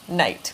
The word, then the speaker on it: knight: the K and so he gets an N for night with a silent K but I mean that